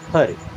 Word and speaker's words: her: एंड हर means होता है उससे, HER, इसे हेयर नहीं पढ़ते, इसे पढ़ते हैं हर।